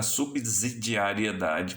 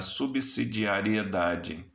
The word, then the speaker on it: subsidiariedade: Até porque se trata de um vocábulo que, em ordem, em regra, as pessoas pronunciam errado do ponto de vista da fonética. Elas falam o princípio da subsidiariedade, quando é da subsidiariedade, né?